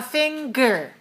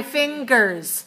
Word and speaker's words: finger: are my fingers fingers notice that when we say the word finger we have the song yeah and we have a sound good so I want you to know it's different from singer can you hear the difference a singer is a person who sings there's no good in that word there's a G letter but there's no good sound there's an F sound